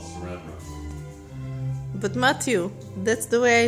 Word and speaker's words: saran wrap: You say serene wrap. It's called saran wrap.